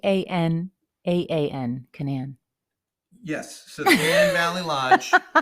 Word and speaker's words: Canaan: that pretty much wrapped up our weekend at Canon Valley Lodge I think it's Canan Valley Lodge in West Virginia I think it's Canan it's not canon it's Canan I think I think you only pronounce one